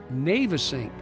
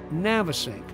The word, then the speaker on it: Navesink: And so Navesink eventually transformed into Navesink, and that's the way it's pronounced. Navesink, not Navesink.